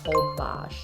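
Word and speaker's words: Holbox: year we went to hobash spelled whole box pronounced obash you fly into cancun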